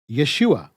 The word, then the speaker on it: Yeshua: from the contraction standpoint it's pronounced exactly like you'd expect when you take the hoe out of yahushua Yeshua but if you're still